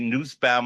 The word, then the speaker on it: Nussbaum: Aryeh Nussbaum, I'm going to use the German pronunciation, Cohen, originally from Brooklyn, now a resident of California, a countertenor, and a shooting star.